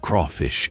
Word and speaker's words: crawfish: Over time, crevice turned into crayfish in some places and crawfish in others. Both evolved naturally. Both are correct.